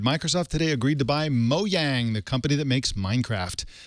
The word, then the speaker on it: Mojang: big money-making machine in Mojang. So yeah, we'll see. I noticed you pronounced it Mojang and I pronounced it Mojang. I was trying to be Swedish.